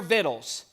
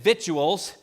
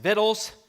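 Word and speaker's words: victuals: three instructions the first one is this prepare viddles now just in case you think we're doing Beverly Hillbillies here that is how that word is pronounced I grew up unfortunately hearing it vitual and that is the wrong pronunciation so you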